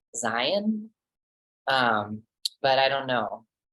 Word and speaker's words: Zeihan: that I think he I think he pronounces it Zion um but I don't